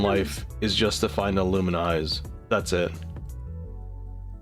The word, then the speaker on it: Illumise: I think its whole purpose in life is just to find Illuminize. That's it. I've heard people say it's pronounced Illumise. Illumise? I mean, I can see that. I like to call it Illumise.